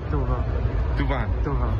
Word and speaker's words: Thauvin: Tu pronunciación correcta es Florian Tuba.